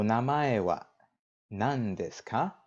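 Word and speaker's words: 何: Nan is what? Now, the reason that it's pronounced nan here is because we have des following it. Usually, it's going to be pronounced nani.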